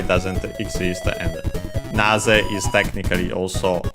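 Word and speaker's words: なぜ: As for big enemies, then we have Nazeka. Naze, we have seen it before, is the word accented on the first syllable.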